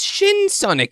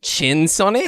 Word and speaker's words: Shin Sonic: No, Milo, it's Shin Sonic, not Chin Sonic.